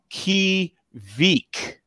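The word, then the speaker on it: kveik: has solid beers so adam is saying pronounced uh pronounced as key veek tvk kvk vk it's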